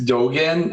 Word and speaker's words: Dogan: Yeah, it's Dogen.